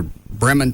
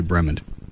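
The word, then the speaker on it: Bremond: Yeah, it's I don't know how to say it's either Bremen, Texas. No, it's probably Bremen. B R E M O N D. Sounds like Brimman.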